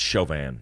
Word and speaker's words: Chauvin: It's Chauvin. Chauvin, yeah, phonetically.